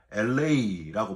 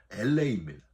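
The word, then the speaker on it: ἔλεος: 여러분, 이 긍휼은 헬라어로 LA라고 발음을 해요. 저와 여러분이 사는 곳이 지금 LA 아니에요? 예. 근데 이 긍휼이란 단어의 발음도 LA입니다.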